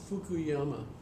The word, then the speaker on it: Fukuyama: Is it about Francis Fukuyama. Oh jeez. Fukuyama. It's a good American name. How do you spell that?